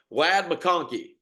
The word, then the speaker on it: Ladd McConkey: But Ladd McConkey, Cam, did I pronounce that right?